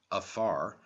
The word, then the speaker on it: fear: Africa from the Irish a fear pronounced afar a man represents the